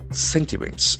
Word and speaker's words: sentiment: Sentiments. S-E-N-T-I-M-E-N-T. That is another beautiful noun. Sentiment. Sentiment. We can see that the accent falls on the first syllable. Sentiment.